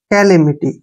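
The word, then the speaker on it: calamity: Next देखिए CA का उच्चारण यहाँ फिर से के करेंगे। ठीक है, LA को ले पढ़ेंगे ऐसे, कैले, कैले हो गया ना। MI का उच्चारण मी करेंगे, और TY का उच्चारण टी करेंगे, कैलेमिटी ऐसे पढ़ेंगे इसको।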